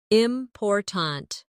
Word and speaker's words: important: For example, in the word important, we stress the second syllable, important. If you stress the wrong syllable, it sounds unnatural.